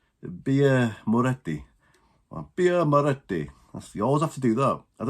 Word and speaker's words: Birra Moretti: How's that pronounced? Birra Moretti.